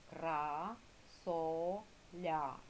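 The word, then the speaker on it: квасоля: Ой, вибачте, кількість складів кра соля. Скільки складів? три та і наголошений красоля. Наголошений другий склад дописали діти?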